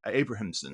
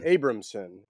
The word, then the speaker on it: Abrahamson: I mean, who is Bobby Abrahamson? Abramson.